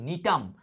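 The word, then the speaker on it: Gnetum: ব্যতিক্রমটা কে এই নিটাম এটা দেখো উচ্চারণ কি নিটাম জি এর উচ্চারণটা উজ্জ্ব থাকে হ্যাঁ নিটাম বলবা নিটাম আচ্ছা এই নিটাম উদ্ভিদে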